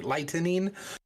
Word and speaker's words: lightening: of a tattoo lightening I always say that I have to like pronounce it because it always sounds like cracking lightning but um but it's actually lightening where it's a a